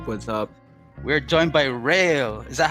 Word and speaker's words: McRel: yeah that's yeah real just say real like really real real nice and how do you say your your your your name fontano is that it's is it mac mcreal like mac miller or what m.c rail yeah the nwa dude the